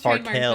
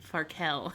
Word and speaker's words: Farkel: So the one that we have Farkle's is Farkel. But there's another, it's called Spicy Farkel. It's spelled Farkel. No, it's not FER, it's FAR. I said FAR.